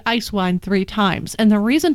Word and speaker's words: Eiswein: for that is because in Germany iced wine is spelled as one word EIS W ein and I think they actually say ice vine and that is the